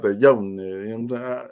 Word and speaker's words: Jonas: But the way I say it's like you don't hit a J. It's Yones. You know what I'm saying? It's like a U, like a Yones, Velatunes.